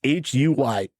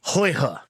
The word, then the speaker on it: Huyghe: It's a fourth generation brewery called, see, I can pronounce this right. It's Huyghe. And I did do some research on it, so I did look it up. Huyghe is what they have gone with.